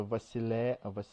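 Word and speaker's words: βασιλεία: first part, once again, it's not beta, it's vita, and pronounces V. So it's a Vasileia and Vasileia. No. How would you Vasilia. Say? Vasileia. Vasileia. This is a E sound, that too there, the diphthong there. It's Vasilia.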